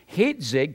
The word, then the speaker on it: Hitzig: Hitzig connects the first syllable with the Coptic ma.